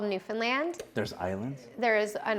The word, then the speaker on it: Newfoundland: that and it's called Newfoundland and it's pronounced like Disneyland okay and I grew